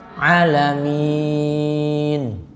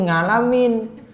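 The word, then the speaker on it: العالمين: Tidak dapat mengucapkan 'ain' dalam iqra. Jadi membacanya ' nga'' ngabduh' seperti itu. Begitulah cara membacanya. 'Ngalamin', itu dulu; Sekarang Anda sedang membaca surah tersebut. Sudah membacanya dengan benar, alhamdulillahi rabbil alamin. Masih pakai 'nga', ibu-ibu, masih pakai 'nga' juga, ibu-ibu . Hal itu harus diperbaiki; Kemudian yang keempat adalah memperhatikan bacaan tasydid.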